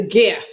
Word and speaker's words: GIF: compuserve graphics interchange format graphics starts with a hard g not a j so it's a graphic it's a gif yeah thank you i don't i've been saying gif me too because if it's had a j sound it should have a